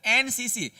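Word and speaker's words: NCC: एनसीसी भले यहां पे एन देख रहे हैं आप लेकिन उसका जब उच्चारण करोगे तो एन होता है इस प्रकार से। एन एनसीसी एनसीसी इस प्रकार से उच्चारण हो रहा है इसका।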